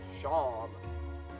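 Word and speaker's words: Seam: The name Shawn, pronounced Shawn.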